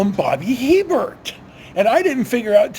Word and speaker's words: Hebert: They're pronouncing it Billy Hebert when it should be Billy Hebert.